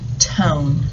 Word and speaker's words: tone: And this says ton, so I need a silent letter E on the end to make it say tone. The E makes the O say O.